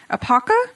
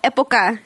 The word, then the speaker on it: Época: And it's in Omaha at, I'm probably gonna say it wrong, Apaca Street Tacos and Sports Cantina. Oh. Did I say it? Okay. You Let would me probably pronounce it better. Oh, Época.